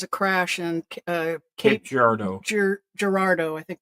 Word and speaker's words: Girardeau: Girardeau, I think it's pronounced, Missouri.